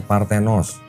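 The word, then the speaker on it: παρθένος: Ini bacanya Partenos.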